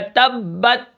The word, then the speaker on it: تبت: ساتھ ملائیں گے، جیسے تا با زبر تب، تا زبر بت، تبت، وقفن تبت۔ اب یہاں پر میں